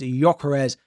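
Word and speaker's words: Gyökeres: in my most recent video, and that is Gyokeres now of Arsenal.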